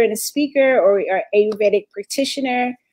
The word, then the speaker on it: Ayurvedic: Shivani Gupta is an Ayurvedic practitioner. Am I saying it right? Yeah, I say it Ayurvedic.